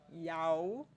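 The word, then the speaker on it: 幺: Então, 9914 Então, sempre que eu falar yao num conjunto de números, eu estou falando sobre o número 1. Essa é outra forma de pronúncia dele.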